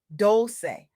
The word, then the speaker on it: Dolce: I'm Dolce, pronounced Dolce, like sweet softness whispered in French, and I'm your guide